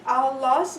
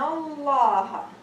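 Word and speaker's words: الله: If a Dhamma or a Fatha preceded Allah's name, then the Lam is pronounced with tafkhim. For example, Inna Allah. Okay? Inna Allah. Inna Allah. So Allah, my tongue went up to the roof.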